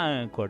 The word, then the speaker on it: Anchor: Anchor se escreve com CH, tá, galera? Anchor. Só que se fala Anchor, tá bom?